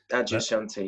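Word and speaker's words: Adyashanti: know if this is the right way to pronounce it Adia Shanti is that right Adia Shanti yeah yeah an American spiritual teacher can you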